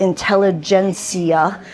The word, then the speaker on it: Intelligentsia: But this is the free coffee, and they're serving, and I talked to the coffee expert, Intelligentsia coffee is how you pronounce it, ish.